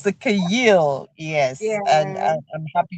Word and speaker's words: Chayil: go and learn how to pronounce it. It's called the Chayil woman. You, So when yes. somebody said I said Chahil, I said, "Ah, please, No, I beg, I beg.